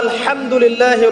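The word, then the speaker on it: الحمد لله: আপনি পড়ছেন আলহামদুলিল্লাহ, শব্দটা কি? আলহামদুলিল্লাহ। এই হা এর মাখরাজ কোথায়? হা এর মাখরাজ কোথায় বলেন একজন? কণ্ঠনালীর মাঝখান থেকে। এখান থেকে আপনি উচ্চারণ করছেন আলহামদুলিল্লাহ রাব্বিল আলামিন।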